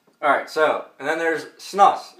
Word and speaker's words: snus: Alright, so, and then there's snus, like I said. S-N-U-S. I couldn't even spell it, I had to look.